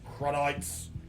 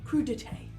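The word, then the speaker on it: crudités: Then a duck and truffle pate with crudites. I think it's pronounced crudité.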